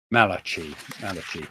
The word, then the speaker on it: Malachy: How do you pronounce his name? Malachy.